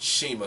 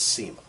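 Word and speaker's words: Cima: Well, they spelled it Sema, C-I-M-A, but they pronounced it Shima, so I'm going Shima. I've also heard it pronounced as Sema.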